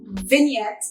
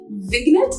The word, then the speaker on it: vignette: of that, is that the G in vignette is actually silent. Like I used to say vignette, and I don't know